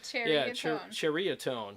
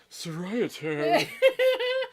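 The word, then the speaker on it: Ceriatone: Is it Cheritone? Like a cherry. Cheritone. Yeah, it's Cheritone. Yeah. And I was like, oh, don't I feel stupid? Yeah. Here I am all like, Seriatone.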